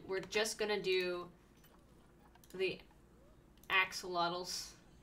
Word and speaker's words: axolotl: An axolotl? What did I say? It's an axolotl.